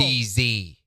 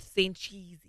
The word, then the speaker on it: Sanchez: Sancheesy. Sancheesy. Sancheesy. Say it right. That's racist to say it wrong. Keith Sanchez.